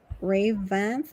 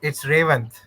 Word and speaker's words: Revanth: Ravanth, or is it Revanth? Yeah, it's Revanth.